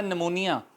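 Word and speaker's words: pneumonia: ये साइलेंट हो जाएगा देखते हैं कैसे एक लफ्ज है निमोनिया निमोनिया अंग्रेजी जुबान का लफ्ज है उर्दू में भी इसे निमोनिया कहते हैं जब बच्चे को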